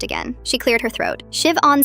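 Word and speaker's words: Siobhan: Shiv-on Smith. Perfect pronunciation.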